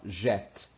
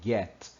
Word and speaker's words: get: É interessante que o G, nunca tem som, como muitas vezes a gente pode falar, ó, jet. Não, tá errado, é get. É como se fosse GU. Sempre. Get.